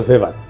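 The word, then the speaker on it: Weber: না আরেকজন দার্শনিক আছে ম্যাক্স ভেভার এটা ওয়েভার বলে অনেকে এ উচ্চারণ আসলে ভেভার তার একটা লেজিটিমেসি এবং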